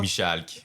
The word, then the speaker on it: Michalk: Je le prononce bien, Michard? Michalk, Michal, comme ça se dit.